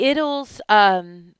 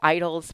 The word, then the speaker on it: Idylls: The Idylls, it's spelled Idyll. We would say idols, but in English we say Idylls.